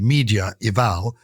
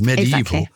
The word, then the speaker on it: medieval: so you have medieval so it doesn't read media eval it reads medieval and the A and